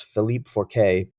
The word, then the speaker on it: Philippe Forquet: in the movie was, I think his last name is pronounced Forquet, but it's Philippe Forquet.